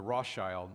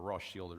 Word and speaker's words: Rothschild: wrote a letter to de Rothschild, or Rothschild is really how you pronounce it, declaring that it